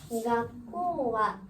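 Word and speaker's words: 学校: 가꼬와 가긴공개공 가꼬예요. 가꼬. 가꼬. 얘는 뒤에 위치해서 코라고 발음하셔도 되는데 약간 뱀 발음 소리 나서 꼬가 돼요. 그러면서 장음.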